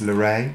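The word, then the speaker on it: L'Erée: Now this was Luray.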